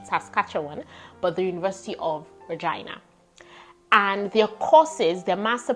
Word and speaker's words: Regina: So University of Regina, some people say Regina, but I googled it and Google pronunciation said Regina, so I'm gonna go with that.